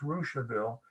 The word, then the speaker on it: Russiaville: Well, Rushville is spelled Russiaville, pronounced Rushville, and it is from a French Canadian named Rousseau, Rossseau, who was half Indian.